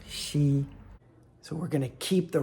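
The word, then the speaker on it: 昔: It's also a surname, pronounced she.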